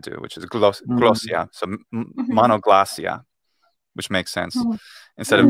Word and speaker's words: Monoglossia: We just say Monoglossia, polyglossia, just regular kind of Englishy.